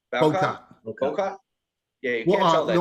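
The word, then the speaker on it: Bowcott: Yeah, I mean, you couldn't tell though that Nick, how do you pronounce his last name? Bocott.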